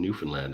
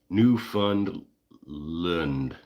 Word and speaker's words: Newfoundland: New funland. This is good. This is a good Newland with accents with emphasis on Newland. Newfoundland.